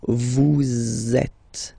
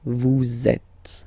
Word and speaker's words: vous êtes: So in that case, vous is ending with S, and then you tend to make a little link between them. So vous êtes, z, it goes like that. Vous êtes, okay?